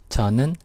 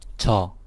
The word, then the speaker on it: 저: This Korean sentence, 저는 학생이에요, is what you're going to learn in this lecture. First, let's take a look at the words of the sentence. This character means I, and it's pronounced 저.